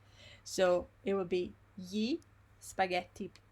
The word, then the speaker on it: spaghetti: And also, just to like go back to what we did before, the word spaghetti, yes, normally is before the word spaghetti we have gli spaghetti, the article, yes.